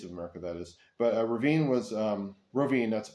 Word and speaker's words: Rovinj: But Rovinj was Rovinj. That's Rovinj. I think it's spelled.